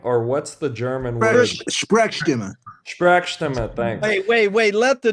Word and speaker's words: Sprechstimme: Sprechstimme.